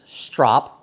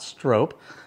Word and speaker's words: strop: to stopping and the pronunciation is strop not strope I made the mistake when I first started as well and said oh it's